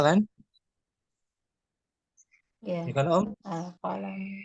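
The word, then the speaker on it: القلم: Al-qalamu. Jangan dibaca tanwin Ya al-qalamun.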